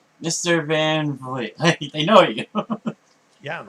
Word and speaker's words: Van Vliet: So, it makes it easier than trying to pronounce Van Vliet. Although once you've heard it, I guess you can say Van Vliet.